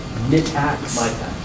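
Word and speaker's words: Mitacs: Is that how you pronounce it? MITAX.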